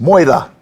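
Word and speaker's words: Moera: And then we moved around the corner to Moira, pronounced Moira.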